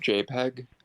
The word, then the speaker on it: JPEG: five two nine zero dot jpg nice it's pronounced jpeg true angela white that mp4 like on his